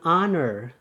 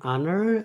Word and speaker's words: honor: Terus ada huruf konsonan yang dibaca vokal. Itu an honor, an hour, an hotel. Ya. An honor, an hour, an hotel.